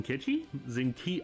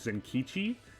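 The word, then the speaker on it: Zenkichi: she was second by far uh was in kitschy zinke i said it wrong like the entire playthrough senkichi then catchy either or he's an s he's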